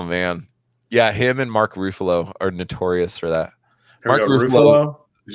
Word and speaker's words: Ruffalo: you say ruffalo yeah how do you say his last name how did you say his last name ruffalo yeah ruffalo ruffle yeah roofalo even though it rhymes with buffalo okay so we used